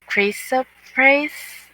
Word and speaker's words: chrysoprase: Every precious stone was your covering: ruby, topaz, diamond, tarshish, shoham, and jaspers, sapphire, chrysoprase. Is it? Mm-hmm. Uh, sorry, I can't pronounce it. Chrysoprase, like Chris, maybe.